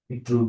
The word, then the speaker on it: Drude: Drude is the correct pronunciation. It's a German name.